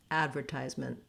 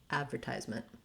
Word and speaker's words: advertisement: of air advertisement advertisement then when we switch to british pronunciation they use the second syllable stress and so rather than the black cat a vowel they have a schwa here in the first syllable it sounds like uh